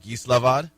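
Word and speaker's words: Gislaved: of the uh the cities i'm sure but geeslavad one more time uh it's spelled g-i-s-l-a-v-e-d slovak something yes okay there you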